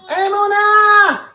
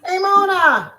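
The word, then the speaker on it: אמונה: Emona. Emona.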